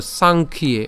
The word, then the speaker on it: সাংখ্যে: এরপর সাংখ্যে, ওই যে আমি ভেঙে দিয়েছি, এখানে আমাদের যেহেতু জফলা আছে, জফলা উচ্চারণ ইয়র মতো হবে, তাহলে ইয়র সাথে একা যুক্ত হয়ে ইয়ে হবে।